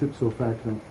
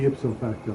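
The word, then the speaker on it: ipso facto: the way U that's it so facto what every time you conclude an argument you say itso facto it's supposed to be ipsofacto go you're mispronouncing it I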